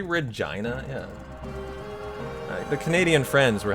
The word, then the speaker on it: Regina: It rhymes with vagina. I was taught that. Yeah, I learned that yesterday, Ducky. Did you know how to say Regina?